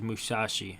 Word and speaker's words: Musashi: part you care about 6:34 can be pronounced as Musashi in Japanese okay they call me